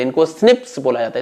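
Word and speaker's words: SNPs: इनको स्निप्स बोला जाता है, स्निप्स। ओके, नाम अच्छा है इसका, स्निप्स, single nucleotide polymorphism, pronounced as स्निप्स।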